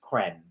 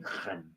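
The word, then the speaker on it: crème: Right, she hates it when I pronounce it creme, because I'm trying to give it the French name creme.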